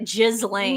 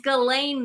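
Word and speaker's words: Ghislaine: Um, oh, Galain I as Tim Dylan pronounces it Jizzane. No, it's Galain Maxwell.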